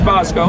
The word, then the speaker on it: Bosko: Bosko.